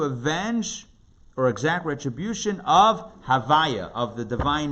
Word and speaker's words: Havaya: then Vav, then Hey, pronounced in Kabbalistic text as Havaya.